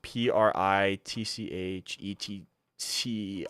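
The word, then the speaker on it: Pritchett: i a oh my goodness I ah pritet p r i TCH ET I believe cornerback out of Auburn 137 the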